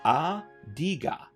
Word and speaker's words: Adiga: a sign of respect it's pronounced a diga there it is adiga